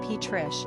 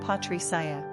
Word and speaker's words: Patricia: In English, the name is pronounced Patrish, but in Spanish, they say Patricia.